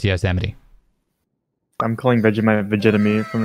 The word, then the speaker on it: Yosemite: It's Yos with an E and then Mite, M-I-T-E. That's Yosemite. Every time, that's what my brain tells me, and then I remember it's Yosemite.